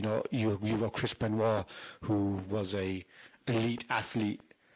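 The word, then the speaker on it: Benoit: is is is a definitely not Beno it's Beno sorry um mispronouncing f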